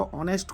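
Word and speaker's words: honest: ऑनेस्ट को हम pronounce करेंगे तो आपका फर्स्ट वर्ड ना वोवेल आने वाला है। जिस वजह से इसका करेक्ट आंसर एन ऑनेस्ट हो जाएगा।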